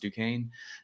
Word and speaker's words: Duquesne: And the only pharmacists at my university who did, which we learned is pronounced Duquesne, it was those who took the drugs of abuse class.